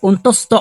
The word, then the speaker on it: অন্তস্থ: এটা কি অন্তস্তীয় হবে না এটা হবে কি অন্তস্থ অ এটা হবে কি অন্তস্থ এটা